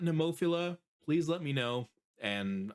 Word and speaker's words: Nemophila: And it sounds like neopila is the right way to say it.